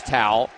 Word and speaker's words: Towel: Here's Towel. Right elbow, kicks it back to Abizadeh. Are we pronouncing that like towel? Yeah, it's like a towel.